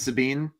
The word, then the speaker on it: Sabine: I so I said it right is it Sabine yeah yeah it is okay okay I was